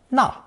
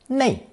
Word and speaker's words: 那: We'll begin with examples of na, also pronounced nei, meaning that or those.